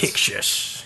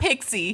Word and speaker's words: Pixis: Pixis. Yeah. Pixis, Yeah. not Pixie.